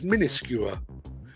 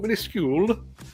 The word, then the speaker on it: minuscule: wife the other night insisting that the word for something really tiny was minuscuer not minuscule in this skewer and